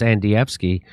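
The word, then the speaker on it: Andrzejewski: so this guy his name is uh Adam anfi and HEI he's it's it's pronounced andvi it is yes it is he is the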